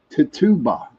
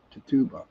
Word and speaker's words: Tituba: was her name was Tituba. I think that's how you pronounce that, Tituba.